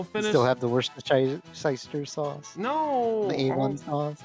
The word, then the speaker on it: Worcestershire: I'm saying it wrong on purpose, and now I can't say it right. But it makes the Worcestershire sauce better.